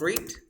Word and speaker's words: read: the past form of read when you write it the same but pronunciation is different you say read rat like the color like the color red red so when was the